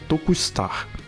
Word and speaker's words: To'Kustar: Way Big's species is To'Kustar, which is pronounced "Toku Star", literally Tokusatsu (特撮) star, because Ultraman is one